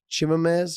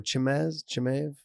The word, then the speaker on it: Chimaev: Chimaev or Chimaev? Chimaev, I thought.